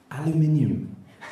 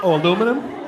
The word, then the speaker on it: aluminium: you some tell you say words like aluminium Al aluminum that's no cuz it's spelled aluminium like I'm I'm sorry and we can get